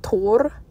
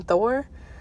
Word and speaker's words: Thor: then uh I think it was Tor so it's kind of like Tor more than Thor um and then she